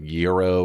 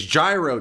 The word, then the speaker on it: gyro: place, which I know some people are like they end up saying it's what's like euro or something like it's gyro, damn it.